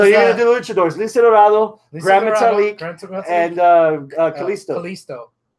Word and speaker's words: Lince Dorado: Kalisto, Lince Dorado. I don't know why I can't pronounce that now. Dorado. I don't know. I'm having Lince Dorito.